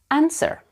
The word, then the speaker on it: answer: at the form yes there is a letter W that is supposed to be silent but it is pronounced by many English learners let's practice pronunciation answer that was a clever